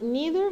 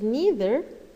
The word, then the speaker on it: neither: only, then we have neither Khalid nor they are lazy. Of course, let me just look at the pronunciation of this word. You can pronounce it as neither or neither. Both are correct.